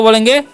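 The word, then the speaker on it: blow: ब्ल नहीं पढ़ना है। ठीक है? ओ डब्ल्यू का चैनल जो है यहां पर ओ होता है।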